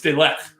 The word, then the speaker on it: De Ligt: It's De Ligt.